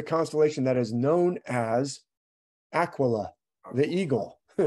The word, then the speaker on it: aquila: that is known as aquila the eagle aquila or aquila is the latin word for a eagle in spanish it's aguila all they do is change the q into a g aguila is an eagle